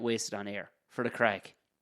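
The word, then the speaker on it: craic: Melly just said, would you not get wasted on air for the crack? And crack is spelled C-R-A-I-C.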